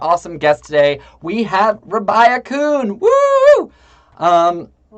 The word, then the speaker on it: Rabiah: guest today we have rabia kuhn um did i pronounce uh your name right it's uh it's rabia but that's okay rabia rabia awesome so rabia